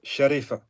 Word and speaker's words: Sharifa: So, in fact, I have maybe to make some correction because this is how it is spelled, but in fact, his mother was in fact Sharifa.